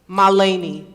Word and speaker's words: Mahalani: My name is pronounced Malani. Malani.